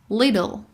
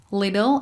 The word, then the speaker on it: little: Little. Little is American, but little is British. Little لهجه آمریکایی هست اما little که ت قوی تر تلفظ میشه لهجه بریتیشه.